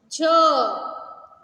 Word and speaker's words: झ: ये देखिए झ। कैसे प्रोनाउंसिएट करेंगे हम इसे?